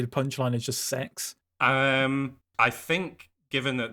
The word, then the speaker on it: CeX: Computer Exchange or C they pronounce it sex on the advert it's not CeX it's it's sex which I get haha